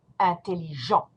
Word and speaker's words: intelligents: Ils sont intelligents. You do not pronounce the T, you do not pronounce the S.